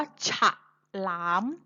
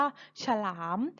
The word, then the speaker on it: ฉลาม: คะ คำ นี้ คือ คำ ว่า ฉลาม เรา ไม่ ออก เสียง ว่า ฉลาม แต่ เรา ออก เสียง ว่า ฉลาม สระ อะ ออก นิด เดียว ถ้า เรา เขียน คำ